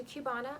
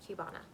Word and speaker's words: Cubana: Hear all the details on Belle Tress's Cubana. Okay, here she is. This is I think I pronounced it Cubana. It could be Cubana. We're gonna go with Cubana.